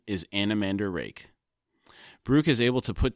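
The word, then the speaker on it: Anomander Rake: and says the nearest way for humans to pronounce his name is anamander rake Brooke is able to put together that the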